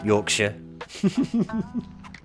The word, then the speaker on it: Yorkshire: Now, obviously I'm saying Bedford Shire for the Americans in my audience. I would obviously, as an English person, say Bedfordshire. But to an American, I've got to say Bedford Shire like I say Yorkshshire when in fact every fiber of my being wants to just say Yorkshire.